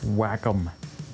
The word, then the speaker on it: Wacom: get on that oh it's pronounced wacom whatever you need one